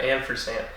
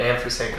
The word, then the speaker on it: ampersand: Ben, comma, Polly, and then the ampersand goes over here now. Oops. Okay, so anyway. Ampersand. Ampersand. What? How do you say it? Ampersand. Does Jamie... With a D at the end.